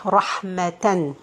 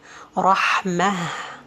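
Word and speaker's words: رحمة: alif, but this tanween or this ta is going to be pronounced as ha, like this. Hasanah, rahmah. So it's not going to be rahmata or hasanata, no.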